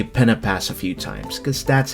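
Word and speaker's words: Pen-y-Pass: By the way, you'll hear me say Pena Pass a few times, cause that's how they pronounce it. Pena Pass.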